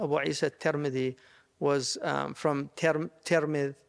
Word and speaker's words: Tirmidh: عيسى al-Tirmidhi was from Tirmidh, which is in Central Asia, or it's also Tarmadh with a fatha and Turmudh. So there's like a different ways of pronouncing it.